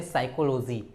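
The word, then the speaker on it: psychology: दे रहा हूं आपको पी के बाद एस पी हमेशा साइलेंट होता है जैसे आप बोलते हैं साइकोलॉजी ठीक है यहां पे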